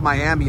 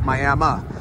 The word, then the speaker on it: Miami: It's actually not pronounced Miami, it's Miami.